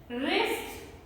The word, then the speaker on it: wrist: the least silent w so letter w becomes silent when it comes with a combination of wr write wrote written writing playwright wrestle wrinkle rap wrist and sword so that's